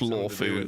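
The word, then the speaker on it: Luofu: It's written Luo Fu and pronounced Law Fu, so coughing.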